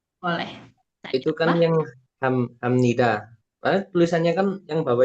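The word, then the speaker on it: 합니다: Itu kok dibacai kok ham pakai M. Kenapa dibacanya ham? Jadi ini juga ada aturan pelafalannya. Jadi ini kan ada huruf P. Ya. Jadi kalau ada huruf P bertemu huruf niun, jadinya si P-nya ini berubah jadi M.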